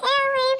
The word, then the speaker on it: Elay: This is Elay, pronounced like Elay, like the city. I'm not from there, but I'm breezy. Signing off. Good luck and good night. Hey, what's up? It's me, Elay, pronounced like LA, like the city.